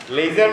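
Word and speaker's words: leisure: লেজার মানে অবসর। অবসর। এখানে যেটা শেখাচ্ছে, এখানে ট্রেজার, মিজার, লেজার সবগুলোতেই এস আছে, কিন্তু উচ্চারণটা হচ্ছে জেড এর।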